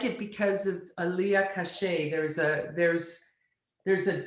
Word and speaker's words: Kache: just alerted me that i've been saying your last name wrong and oh i wish you would have corrected me i'm so sorry i say kash and it's cachet right yes that's okay you